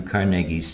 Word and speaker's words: Carnegie: And it gives me great pleasure to pronounce Andrew Carnegie's surname correctly. since the opposite seems to be honored all too often. Anyway, we're going to Pittsburgh, and that's a Carnegie place where they say Carnegie.